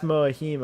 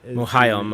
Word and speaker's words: Mohiam: But Gaius Moahim, I think is her name. Mohiam, I think is how you say it.